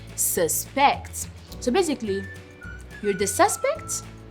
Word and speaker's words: suspect: word it can be suspect. Suspect. So basically the stress is on the first syllable whereas it's a verb it's suspect. As you can see it's on the second syllable.